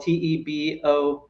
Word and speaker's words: Tiebout: It's we're talking about the Tebow bill, TEBOW, and you're kind of referring to Tebow competition, voting with your feet. Right. Spelled the same way, TIEBOUT, the economists from